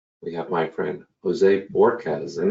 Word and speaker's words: Bohorquez: have my friend Jose Borquez, and that's pronounced Borkez. Don't be mistaken by the H or the U, as I've done in the past. It's a straight Borquez, which of course raises